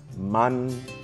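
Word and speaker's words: mannge': pronouncing the word right it's not m m we need to hear that hard n at the end of the first syllable man and did you catch that GL at the end of it a glot marks a glottal stop a tightening of the back of the throat to cut off the sound abruptly that's how you pronounce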